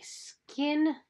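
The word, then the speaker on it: SKYN: The next thing is by Skin Iceland. Skin is spelled S-K-Y-N Iceland.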